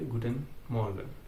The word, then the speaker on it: Guten Morgen: तो good मॉर्निंग German में बोलेंगे गुटेन मॉर्गन।